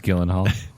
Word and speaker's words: Gyllenhaal: And I feel like, by the way, Jake Gyllenhaal was originally, like, they tried to get one casting director. It's pronounced Gyllenhaal.